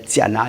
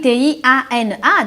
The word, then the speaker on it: Tiana: Oui, bien sûr, comme ça s'écrit T-I-A-N-A. Donc, il est normal que les gens m'appellent Tiana, mais en prononciation malgache, c'est Tin.